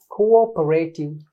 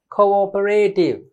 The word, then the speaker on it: cooperative: Cooperative. Don't say cooperative. Don't say corporate. Cooperative. You have to break the first part.